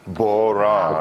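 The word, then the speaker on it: bodhrán: Help me on the pronunciation of Bowron. boran.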